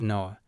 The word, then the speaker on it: Noah: She explains that her first name is written like the word for spaceship, but is pronounced as Noah.